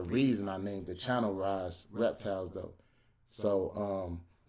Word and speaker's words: Raas: some people call me some people call me all type stuff the name is pronounced rise i'm a big comic